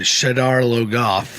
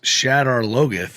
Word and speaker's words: Shadar Logoth: as they call it shadar logoth which i hate i hate the way they pronounce that when you listen to the audiobook it's shatter logith and i prefer i prefer that just you know and